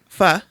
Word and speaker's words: pho: No, I thought it was faux. It's fa. Pho. Right.